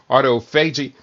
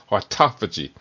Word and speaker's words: autophagy: Some people pronounce it autoagi but it's actually autophagy where they um emphasize the second syllable autophagy.